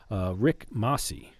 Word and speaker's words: Rick Masi: And today on the show, we've got Rick Masi.